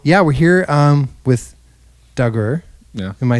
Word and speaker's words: Dagur: like you said earlier some people are just like dagger yeah dagger anything with a d yeah